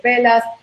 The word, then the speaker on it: Bellas: Velas. Y Perfecto. Velas es como si quisieras decir bellas en español, pero se pronuncia con una L porque mis esposos griegos.